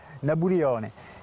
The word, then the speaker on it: Nabulione: Napoléon, pas dû l'entendre très souvent, et lui le prononce façon insulaire, Nabulione.